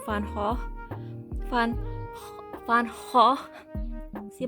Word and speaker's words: Van Gogh: I explained that in my, I explained why I keep mispronouncing Van Gogh. Van Gogh. See, my guttural G is really weak.